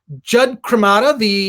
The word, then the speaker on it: Jud Cremata: Jud Cremata, and I probably butchered this pronunciation of your name.